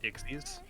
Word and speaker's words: Xyz: uh x ixes uh it's spelled x y z and pronounced ixes okay never see x